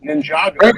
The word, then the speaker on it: Ninjago: Ninjago actually is the pronunciation. Ninjago.